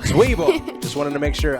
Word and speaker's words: Zwiebel: Zwiebel. Zwiebel.